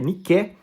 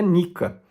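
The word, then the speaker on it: νίκη: né Nike na verdade do grego niqué escreve niqué mas se pronuncia Nica há inclusive uma revolta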